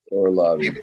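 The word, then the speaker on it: Orolbai: a that I mean he's a Powerhouse that or Lobby am I saying it right yeah yeah or Lobby keep an eye out for him Jimmy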